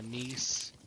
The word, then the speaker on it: Gneiss: Yeah, I just assumed that the G is silent, so I just call it Nice.